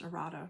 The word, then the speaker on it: errata: there's any um uh pronounced Errata right I always feel weird saying it because it sounds like I'm saying erotic sorry but if there